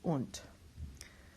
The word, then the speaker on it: und: consonants rather, and then the D at the end of a word is pronounced like a T. This is und.